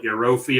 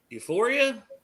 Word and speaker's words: Euphoria: It's called Eurofi or whatever it is. But yeah. Euphoria? Yeah, that's it. I was close.